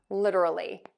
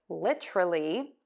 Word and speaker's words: literally: You might hear people say literally, but I personally say literally. And whichever one you choose, people are going to understand you. So again, you have choices for that word. It could be literally, literally, or literally. Whichever you choose.